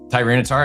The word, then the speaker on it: Tyranitar: this 2023 Pokemon Clay Japanese Clay Burst Tyranitar number 79. It's a PSA 10. Holy, holy, holy. That was incredible. Cap, I was waiting for you to try to pronounce that. Tyranitar.